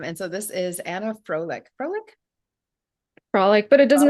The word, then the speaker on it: Frolik: just usually pronounce it Frolic in English yeah it's close to that you know the word that actually exists in English which I really like